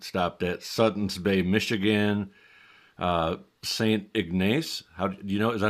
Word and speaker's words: St. Ignace: St. Ignace. Is that how you say it? Yep, that sounds right. St. Ignace, Michigan.